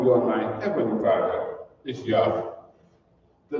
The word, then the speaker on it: Yahweh: In order to make the Tetragrammaton pronounceable Yahweh in English, as it is pronounced Yahweh by the Hebrew-speaking people, we as English-speaking people,